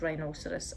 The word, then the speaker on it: rhinoceros: um for instance rhinoceros you might be tempted to say right no but we've actually got it as rhinoceros and it's a four-syllable word so the first one